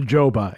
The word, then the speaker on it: Juba: And Joe Juba has joined me again for this final segment. It's pronounced Joba, actually, but it's been a long time, and I've You know, never corrected There's you.